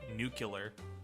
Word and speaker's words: nuclear: There's the Texan pronunciation nuke-ular. Nuke-ular, yeah, the George Bush nuke-ular option. Which I honestly still say nuke-ular sometimes. It's just Nuke-ular. sort of what I thought the word. It has nuke in it.